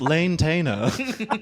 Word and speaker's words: lantana: You have to understand that it's actually pronounced Lane-tana.